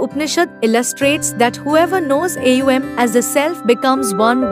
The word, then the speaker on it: Om: The most basic mantra is the holy vibration identified as Om, pronounced without the help of tongue as Aum.